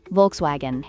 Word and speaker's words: Volkswagen: And let's not forget Volkswagen, which is pronounced Volkswagen.